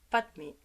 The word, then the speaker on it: padme: manie ressemble à mani padme se dit pat mai et où se prononce